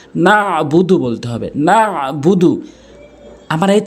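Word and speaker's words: نَعْبُدُ: উচ্চারণ করতে হবে অনেকেই বলে নাবুদু নাবুদু আইনের উচ্চারণ করেই না নাবুদু বলতে হবে নাবুদু আমার এই চ্যানেলে সই শুদ্ধ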